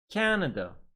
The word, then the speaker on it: Canada: And now, 3 syllable words. Stress on the first syllable. Please repeat. Canada.